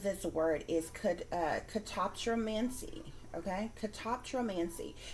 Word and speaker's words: catoptromancy: portal of some kind okay guys so the pronunciation of this word is could uh catoptromancy okay catoptromancy c a t o p t